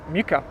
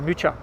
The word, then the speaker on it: Mucha: by the name of alfons muka or mucha depending on how you want to pronounce it there are all kinds of different pronunciations but i i'm going to use uh muka and these were some